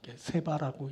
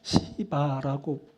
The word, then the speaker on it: 스바: 먼저 살필 것은 스바의 여왕이 만난 하나님입니다. 이것은 말씀을 통해 만난 하나님을 말합니다. 자, 스바의 여왕이라 할 때 스바, 세바라고 읽게 되는 말인데 이것은 나라를 말합니다. 시바라고도 불리는 스바는 아라비아 반도